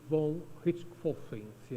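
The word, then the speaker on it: von Richthofen: história né Suzane Luiz vão risco fence aqui a pronúncia de alemão né e fofa uma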